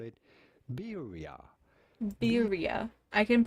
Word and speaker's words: birria: We are looking at how to pronounce birria. Oh my god, birria. no. It would be said birria.